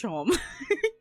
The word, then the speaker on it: Seam: Like how there's that cat in Delta Rune who's like, "Hi, my name's Seam pronounced Shom."